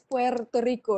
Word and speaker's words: Puerto Rico: It's not Puerto, it's Puerto Rico. It's a rhotic R. You have to stress the R.